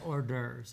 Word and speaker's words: hors d'oeuvres: it right appetizers no not appetizing we say hors d'oeuvres it's french you speak french maybe it's not